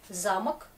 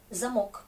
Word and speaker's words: замок: Attention, ce mot, замок, ça peut être замок aussi. Vous vous rappelez? Il y a des mots qui veulent pas dire la même chose et pourtant ça s'écrit pareil. Juste l'accent tonique, encore l'accent tonique.